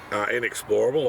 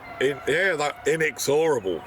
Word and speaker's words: Inexorable: But speaking of, excitement, the Dandino 2-year-old, inexplorable, obviously scratched from no one can say his name. Inexorable. I keep saying explorable.